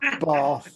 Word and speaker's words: Bath: Yeah, so it's Bath or Bath, depending on which part of England.